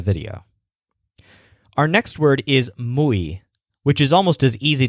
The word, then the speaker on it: muy: pronounce this word like moi, which is not a word. It's muy. So if you moo like a cow, you'll pronounce it more like a native speaker.